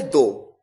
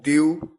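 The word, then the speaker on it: thou: इसी तरह second person में सिंगुलर है दो, इसे कई तरह से प्रोनाउंस भी किया जाता है, दो, द्यू, इस तरह से प्रोनाउंस किया जाता था।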